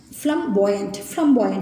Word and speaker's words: flamboyant: ஃப்ளம்பாயண்ட் means ஃப்ளம்பாயண்ட் அப்படின்னு pronounce பண்ணணும்.